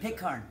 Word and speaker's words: Pitcairn: Pitcairn.